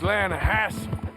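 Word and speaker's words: Lannahechee: You mean the Lanahatchee River? No. The Lanahatchee. It runs right near here. Yeah, but it's pronounced Lanahatchee.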